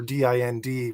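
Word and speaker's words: dind: Do in Irish is the singular for what we usually see as the plural of din, or D-I-N-D, which is also pronounced din, which is the first element of the term dinhenicas, which means the lore of sacred and important places.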